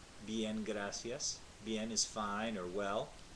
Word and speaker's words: gracias: like a th but in Latin America they pronounce to see like an S gracias and it's correct to say it that way